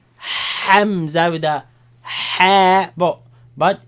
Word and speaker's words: همزة: The sound actually comes from where the vocals begin, the that sound, cutting sound. But the name of this letter is Hamza. Hamza. Hamza. It's not like the name Hamza with a ha, but